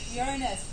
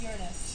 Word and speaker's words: Uranus: Uranus. It's pronounced Uranus.